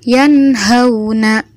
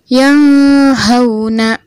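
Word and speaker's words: يَنْهَوْنَ: jelas yanhauna yanhauna kita perhatikan di situ ada nun sukun lalu bertemu dengan huruf Izhar yaitu huruf H maka dibaca jelas yanhauna contoh bacaan yang salah yang Hona salah tidak boleh didengung harus dibaca jelas yaitu seperti yanhauna selanjutnya contoh yang kedua inhadza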